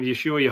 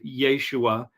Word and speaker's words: Yeshua: uh that the uh the A on the end of Yeshua was not pronounced at least in in the Galilean pronunciation of Aramaic and so it would